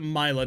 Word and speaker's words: Mila: Mila, that's right, like Camila.